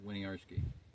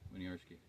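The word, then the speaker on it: Winiarski: far as I know Larry w i n i a r s k i win arski win arski so may we Butch in his pronunciation but that's pretty close and he did that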